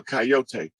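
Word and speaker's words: Kiote: i o t uh coyote that's an indigenous name that's actually the uh tribe whose totem is the coyote and it's it's um it's spelled that way and it sounds like coyote or coyote but it's a tribe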